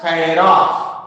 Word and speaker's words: chiral: ಕೆಲವೊಂದಿಷ್ಟು ಮಂದಿ ಅದಕ್ಕೆ ಚಿರಾಲ್ ಅಂತಾರ, ಇನ್ನು ಕೆಲವೊಂದಿಷ್ಟು ಮಂದಿ ಕಿರಾಲ್ ಅಂತಾರ. Whatever it may be, it should be pronounced as chiral.